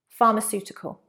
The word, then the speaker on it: pharmaceutical: Like photo, in English, the PH sound is usually a F. Pharmaceutical.